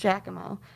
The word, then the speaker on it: Giacomo: and i found it it's spelled um very strangely not how we spell it um it's kind of spelled like jackie mac but it was pronounced giacomo so we found the